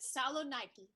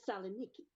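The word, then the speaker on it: Salonika: Mine is at Saloniki. You'll excuse me, Mrs. Haggerty, but the correct pronunciation is Saloniki.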